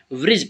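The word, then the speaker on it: bridge: हैं व्रज ठीक है व्रज डीज जो हमारा होता है यहां पर साइलेंट रहेगा ठीक है तो इसे हम ब्रिड नहीं पढ़के ब्रिज पढ़ेंगे ठीक है क्या पढ़ेंगे ब्रिज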